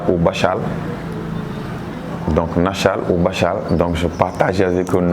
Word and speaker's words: Bachal: Bachal, c'est un mot mankagne qui veut dire, en prononciation mankagne, on dit Bachal, donc qui veut dire les penseurs.